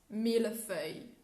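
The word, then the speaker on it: mille-feuille: that actually comes to one word that people don't say cannot say properly in um in french it's mila fey i like i think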